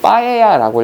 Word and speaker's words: paella: 이게 읽을 때는 이제 그 빠에야라고 읽어요.